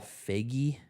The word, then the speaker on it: Feig: I think it's Feig, but I've heard other people like pronounce it with like it's a 2-syllable word.